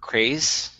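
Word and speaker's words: Crais: you ever read uh robert crays i think that's how you say his name c-r-a-i-s series out with a private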